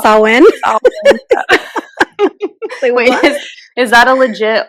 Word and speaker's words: Samhain: So when you said Celtic, I started laughing because we did a whole episode on Samhain, which is actually pronounced Samhain.